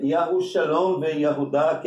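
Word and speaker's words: יהודה: Yahudá, não é? Que é Judá, né? Se escreve Yud, Kemet Gedol, Rei, Vav, Shurk, Dalet, Patar, Rei. Ou seja, Yahudá ou Judá, não é?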